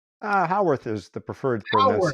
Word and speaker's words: Howarth: Howarth is the preferred Howard. I'm pronunciation.